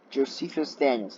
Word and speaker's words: Josephus Daniels: in the Union by Secretary of the Navy Josephus Daniels and that's how you pronounce that the New York Times estimated that